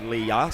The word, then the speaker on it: Lea: apologies to Lea Chamberlain, who I've been calling Lee Chamberlain. It's actually Lea.